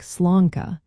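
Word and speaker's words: sláinte: To pronounce sla, say it like slanka.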